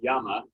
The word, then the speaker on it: llama: a llama and but in spanish it's yama and it says that